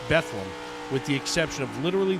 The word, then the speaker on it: Bethlehem: and look forward now you can see that it's spelled Bethlehem but here in Pennsylvania that's pronounced bethleem with the exception of